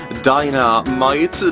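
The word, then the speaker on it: Dynamight: Dynamite, different spelling, but pronounced the same.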